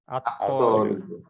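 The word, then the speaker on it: الطالب: ছাত্রটি হবে কি হবে আত্তালিব আত্তব আলের উচ্চারণ হইলো না কেন শামস হরফ শামসি হরফ তাইলে আত্ত লিবু লিবুন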